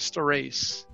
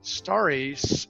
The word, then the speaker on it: Starace: but you know yeah i actually grew up star race star race and many of us found like my father and uncle and brother found it was easier to pronounce it staris in a public setting star race kind of you sort of lose it just the r gets swallowed it's it's doesn't come out right people can't figure it out and so